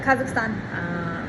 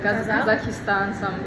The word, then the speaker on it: Kazakhstan: Okay, making sure I'm saying it right because I hear people say Kazakhstan. Kazakhstan, like it's a tin can, and I'm like, why are we in the south, like a hillbilly? Can you say Kazakhstan, Yeah.